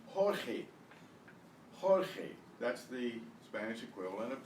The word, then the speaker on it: Jorge: will start at the list of names here Jorge Jorge notice that the J is pronounced and the G is pronounced the G